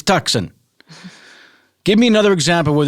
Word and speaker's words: Tucson: It isn't Tucson, it's Tucson.